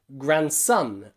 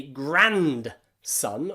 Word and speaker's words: grandson: Most people don't say grandson or granddaughter. In granddaughter, there are two D's. The first one is silent. Daughter, of course, we need D, daughter. But in grand there, we don't pronounce the D. We just say gran, gran. Same in grandpa and grandma. We don't say grandpa because it's too difficult. It's very hard to say that. So grandpa and grandma, grandson and granddaughter. Silent D all the time.